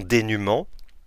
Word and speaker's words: dénuement: Attention au E muet avec le nom dénuement.